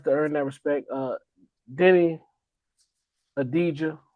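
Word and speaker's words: Deni Avdija: Uh Denny Adijah, now I know the proper way to say his name. The V is silent.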